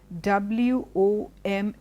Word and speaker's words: women: The next word which we tend to make a mistake is W-O-M-E-N.